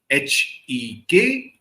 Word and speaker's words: Hecate: That is Hekuhte. This is the British pronunciation, though in old Shakespearean